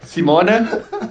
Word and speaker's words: Simone: It's pronounced Simone. Italy pronunciation is a little bit different.